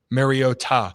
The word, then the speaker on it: Mariota: I just figure out it that is how Marcus pronounces it. Marota. Marota. Mariota.